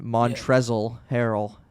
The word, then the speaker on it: Montrezl Harrell: it's spelt and then montrezl harold he has a silent l at the end of his name fun fact is that